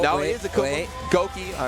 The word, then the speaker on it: Goki: His proper name. I always say it wrong. I used to be like Goiki and everything.